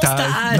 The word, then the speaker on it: Taaj: Et alors le mot Taaj, que je prononce Taaj.